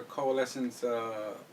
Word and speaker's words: coalescence: What do you think about her coalescence ulti, her ultimate? Her name is very. I don't know how to say it. Can you say that? What is it again? Coalescence. Coalescence? Wow, it sounds like evanescence.